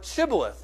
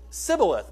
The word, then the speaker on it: Shibboleth: to us the word Shibboleth?" Well, the men of Ephraim could not pronounce it because of their dialect. They couldn't pronounce it that way. And they pronounced it Sibboleth, minus the H.